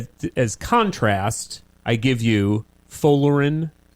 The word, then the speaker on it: Folarin: Folarin Folarin. Folarin, yeah. Balogun. Folarin Balogun. Balogun. Balogun. Folarin Balogun. Wait, how'd you pronounce his first name?